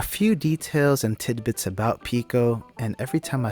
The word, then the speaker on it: Pekoe: details and tidbits about pico and every time i say her name it's just like one of those valley girls trying to say like pico de gallo so it's like pico i mentioned that she's